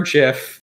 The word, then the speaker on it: gif: n-a-t-t why is natty so she could play gif or jiff uh depending on your pronunciation well that's the thing i mean you're